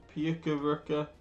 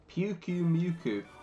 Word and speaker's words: Pyukumuku: Pyukumuku, Pyukuruka, Pyakawaka, Yeah, die. Get out of here. Ah! Oh, that's right. Pyukumuku. Oh, when you say it like that, it actually kind of makes sense.